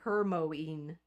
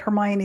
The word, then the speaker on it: Hermione: Daydreamer saying, "My grade school teacher pronounced Hermione." Hermoine hermoine. Hermoine. Okay, that's off topic, but Hermione is one of my